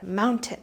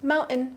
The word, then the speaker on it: mountain: Mountain. But in natural speech, we just drop it completely. Mountain.